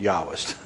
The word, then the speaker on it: Jahwist: German, remember, German J is pronounced Y.